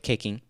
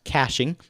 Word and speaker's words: caching: are the results with caking which actually is pronounced caching but caking just sounds so much more delicious i'm going to scroll